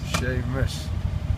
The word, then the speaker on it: Seamus: Seamus. I really pronounce it right.